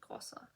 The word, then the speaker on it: Grossa: It's got a double S, so Grossa.